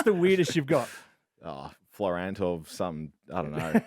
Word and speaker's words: Florent: Yeah, they speak French, so um that's where my grandparents sort of call me and what how they pronounce the the last name. Um I obviously don't pronounce it like that, but um yeah, call